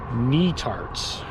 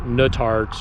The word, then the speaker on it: Netarts: All right, so you pronounce that, the name of that town, Netarts. Netarts, not Nutarts or Nutarts. Netarts, like the knee that's on your leg, and tarts.